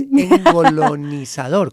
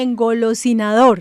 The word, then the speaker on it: engolosinador: Y digamos que es engolonizador, ¿cómo se dice? Engolosinador.